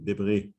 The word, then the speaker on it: debris: Debris. No, sorry, debris, because we pronounce the S.